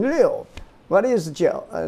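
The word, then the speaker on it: 六: And you pronounce it the fourth tone, Liu.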